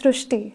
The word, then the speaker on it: Shrushti: So in Marathi, the word Ri is pronounced as Ru. So that is why the pronunciation goes Shrushti.